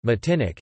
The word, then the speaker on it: Martinique: Martinique (French pronunciation: Matinic) is an insular region